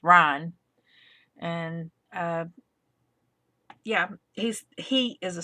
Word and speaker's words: Ryne: And that's spelled Ryne, not Ryan. It's Ryan.